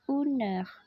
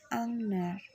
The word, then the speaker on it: une heure: Pelafalannya menjadi une heure. Seperti itu. Bukan une heure.